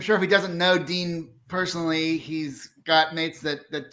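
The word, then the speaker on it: Digne: It's not Digny or Digna or Dina. It's Dean.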